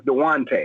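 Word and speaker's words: Dejounte: derek white better than jonte murray but even though i can afford jonte de jonte where's it duante yeah his name is dewante because the j is silent okay dewante murray i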